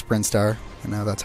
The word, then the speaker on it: Brinstar: I was going to say 'he is the pronunciation of things Brian star I call it Bronze Star I know it's brinstar I know that's how it's pronounced if I